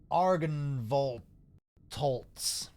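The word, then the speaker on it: Argynvostholt: yeah Arkansas I think if you say it uh like uh you're an angry German result yeah see it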